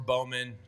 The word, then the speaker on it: Bowman: Balman who covers or Bowman excuse me I would say Bowman uh I I grew up with somebody of that last name they pronounced it Bowman so we'll go with Bowman Mark Bowman from down